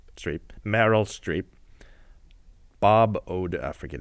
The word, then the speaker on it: Streep: Tom Hanks metal strip settle you pronounce that Streep Streep Meryl Streep Bob ode forget it quite the cast I speak of none other than the post directed by mr.